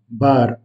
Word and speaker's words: bar: Mais en portugais, on roule légèrement le R à la fin, bar.